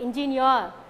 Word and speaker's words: engineer: right so before employee so before e sound we can mark stress employee okay engineer okay we have to